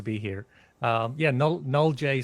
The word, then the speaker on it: NoleJ: here um yeah no null J sounds kind of French and we're a French company but it's it's it's knowledge um um and it's